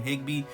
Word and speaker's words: Higbee: Higbee.